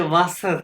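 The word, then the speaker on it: Wasser: और ये है, अच्छा ये जो आप ये आदि के वासा देख रहे हैं, लेकिन जर्मन वाले में आपको जर्मन वाले क्या प्रोनाउंस करते हैं इसको? वासा, वासा, वासा वासा आर प्रोनाउंस नहीं करते हैं, वासा, वासा, ठीक है।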